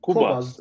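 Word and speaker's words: Qobuz: Kubos diye okunuyor. Kubas. Evet. Kubas. Fransızca.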